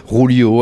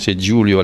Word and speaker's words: Giulio: pas toujours facilement prononçable les gens font du yoyo julio à l'espagnol c'est cette importance et giulio l'italienne tout simplement on peut